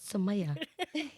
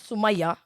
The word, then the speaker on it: Sumeya: know it's me yeah samaya samaya but i always say samaya i know you know why though why because my cousin's called samaya her name is sumaya right that's how you say it yeah but in school